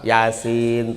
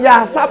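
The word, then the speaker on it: يس: Misalnya gini, nun, tapi dibacanya nah. Kalau ibu-ibu sama bapak-bapak baca surat Yasin, Yasa apa Yasin?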